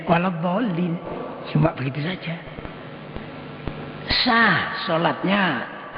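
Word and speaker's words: وَلَا الضَّالِّينَ: Ada yang kependekan. Mestinya waladhdallin. Bacanya waladhdallin.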